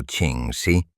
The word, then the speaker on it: Ching Shih: La nueva y absoluta comandante suprema de la flota del Mar Rojo, Ching Shih, pronunciado Ching Shih, comprendió de inmediato que el caos interno era su peor enemigo.